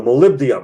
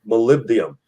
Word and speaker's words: molybdenum: except for the molybdenum the molybdenum i pronounced it raw in the first time molybdenum and it was three